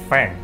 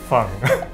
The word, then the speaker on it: Fang: pronun pronunciation which is in the Chinese style of course we are not including all the tone we are just uh